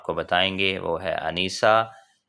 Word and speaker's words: انیسہ: آج کے نیم جس کے معنی ہم آپ کو بتائیں گے وہ ہے انیسہ. سپیلنگ ہے ANISA، انیسہ.